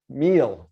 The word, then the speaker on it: mille: You don't see French pop up a lot in online advertising, but mille, there we go. Thank you, Denise, for correcting me. Mille, CPM, cost per mille, which means 1,000.